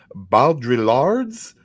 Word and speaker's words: Baudrillard: Jean Baudrillard's. You don't pronounce the L's. Baudrillard.